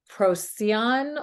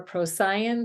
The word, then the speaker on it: Procyon: featuring the stars of Procyon or Procyon, different ways of pronouncing it, Betelgeuse, and Sirius, that form and it's a perfect equilateral triangle.